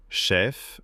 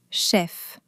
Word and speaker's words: chef: Chef, neuf, sportif, tarif. Le "F" se fait toujours entendre. Chef.